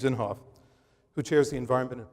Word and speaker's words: Inhofe: me with the pronunciation is it inhof thank you James inhofe who chairs the environment